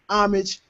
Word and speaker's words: homage: but you also pay homage homage silent h whatever you want to